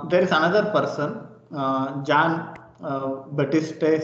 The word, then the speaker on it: Baptiste: Okay, next there is another person, John Baptiste Say. Okay, here P is silent. John Baptiste Say.